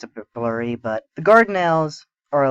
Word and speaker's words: Dardanelles: This was for control of the Dardanelles, and that's I pronounce it Dardanelles, but spelled with a D.